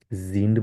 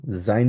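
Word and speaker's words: sind: এটা মত উচ্চারণ করব জিন্ড বলব জাইন বলব না অনেকে আমরা জাইন বলি জাইন না এটাইনটা কারেক্ট এটা বল কারণ এটাকে আমরা ই এর মত উচ্চারণ করি আইকে ই এর মত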